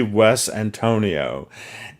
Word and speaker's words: Wes Antonio: cover though you see Wes Antonio and not Antonio West Antonio and I'm actually reading what it says on the cover phonetically as it as it is uh written it's written phonetically to be pronounced this way so Wes Antonio are